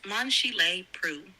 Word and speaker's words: Monchy-le-Preux: Monchy-le-Preux. P-E-P-R-E-U-X. Do you know how to pronounce that, Robot Lady? It's pronounced Monchy-le-Preux.